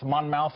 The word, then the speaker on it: Monmouth: I can't pronounce it right. Monmouth poll.